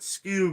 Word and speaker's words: Skewb: daniel i meant that skewb is pronounced like scooby-doo and we have heard